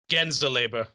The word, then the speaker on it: Gänseleber: in German, the umlaut over the a gives it either a long a sound or like an s sound. Because if it were gans, it would be gans. But then with the umlaut, it's gens or gains. But it's gens.